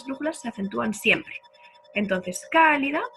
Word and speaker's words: cálida: Entonces, cálida es una palabra que lleva tilde.